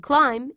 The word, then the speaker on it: climb: don't pronounce be here the b in climb is not pronounced see how these two